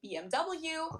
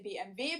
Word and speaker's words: BMW: In English people say BMW. In German we say BMV because W is pronounced B in German and it stands for